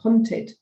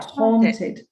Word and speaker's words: haunted: you have you have to say haunted because otherwise it sounds like hunted yeah haunted haunted yeah thank you